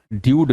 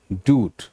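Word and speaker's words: dude: ड्यूड नहीं, डूड.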